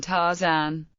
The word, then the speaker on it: Tarzan: For example, RZ represents RZ, not Z, in words like Zamarzak and in the name Tarzan. Notice that doubled letters represent separate occurrences of the sound in question.